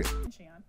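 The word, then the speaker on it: Xi'an: And I'm going to listen to pronunciation here one more time because I keep messing this up. Take it away. Xian.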